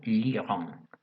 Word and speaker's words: l'Iran: Entonces, por eso se suprime la vocal que hay aquí, se coloca un apóstrofe y se pronuncia l'Iran.